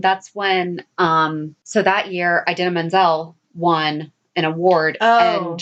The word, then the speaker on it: Idina Menzel: Adele Dazeem, that's when, so that year, Idina Menzel won an award, and John Travolta butchered her name, and that's what she said was Adele Dazeem. Or that's what he said. He called Idina Menzel Adele Dazeem.